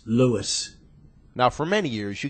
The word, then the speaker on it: Louis: that told me that people called him Louie and and he would politely say my name is not Louie it's Louis now for many years